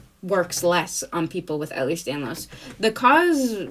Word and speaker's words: Ehlers-Danlos: How to pronounce Ehlers-Danlos? Ehlers-Danlos syndrome.